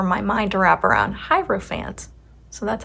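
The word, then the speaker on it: Hierophant: We've got the page of swords, the knight of cups, and the hierofant. Hierofphant. I always mess this one up. It is so difficult for my mind to wrap around hierofant.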